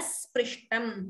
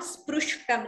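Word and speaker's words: स्पृष्टम्: And please note the pronunciation here. Sprishtam. It is not sprushtam. It's not ukara. It is r.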